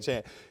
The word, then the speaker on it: Achane: Did I pronounce that right? Yes, you did. Achane, to make sure that they weren't able to get too much explosion on them.